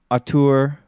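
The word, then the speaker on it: auteur: real he's like one of the few are a tour how do you pronounce it Ian that's correct uh a tour or craftsman of video games and because seeing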